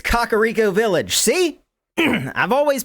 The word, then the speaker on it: Kakariko: It's Kakariko Village. See? I've always pronounced it right. It's cock, not cack.